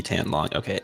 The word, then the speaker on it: Etan: Okay, Etan, long Etan. Okay, yep, I was saying it wrong. Okay, What thank were you saying? Etan. Is that Etan? No, it's like Ethan, but without the H.